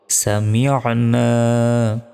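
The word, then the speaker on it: سَمِعْنَا: এক সেকেন্ড টানো হবে সামিনা সামিনা এখানে আইনের উচ্চারণ করতে হবে সামিনা দেখুন আইনের উচ্চারণ কিন্তু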